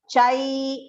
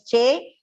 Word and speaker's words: चैव: Chai should be pronounced properly. It's a long pronunciation. Please do not pronounce it as che. It is not chevantas, it is chai.